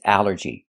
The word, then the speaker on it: allergy: The first thing that's important is the al. This word breaks the rule. The rule is a ll makes the sound all like ball and call. But here it makes the a sound.